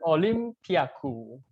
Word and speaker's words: オリンピック: theme is hey there is the olympiaku at least this is how you pronounce olympic in japanese one thing i like